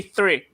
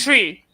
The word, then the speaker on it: three: longest time, I could not say three. Like I kept saying Three. tree.